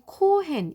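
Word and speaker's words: כֹּהֵן: 부터 살펴볼게요 제 4장 는 코헨 이라는 발음이 나는 히브리어로 써 견고하게 서 있다라는 뜻입니다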